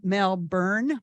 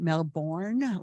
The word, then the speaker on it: Melbourne: And if you want to, excuse me, say it like locals say it, you say Melbourne, B-U-R-N, not Melbourne, like it looks.